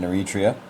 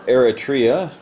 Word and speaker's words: Eritrea: here and landed in Nurit Rio or Eritrea depending on where you put your emphasis on which syllable the Germans moved big